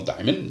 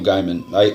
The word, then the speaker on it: Gaiman: His name is Neil Gaiman. Everybody's like, Neil Diamond? Neil Diamond? No, Neil Gaiman. Gaiman actually is how it's said.